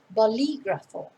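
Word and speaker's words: bolígrafo: need a pen or boligrapho in spanish again notice where the accent is on the eye in the middle balligrapher and you can avoid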